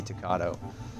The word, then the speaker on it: Tocado: Or you'll just be Tocado, which rhymes with avocado, which apparently too many people eat, but I'm not sure.